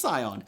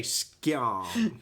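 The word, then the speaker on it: scion: personally hates the Deltas you thought I was going to mispronounce cion yeah I was thought you about to say skon SK Uh Kevin Bacon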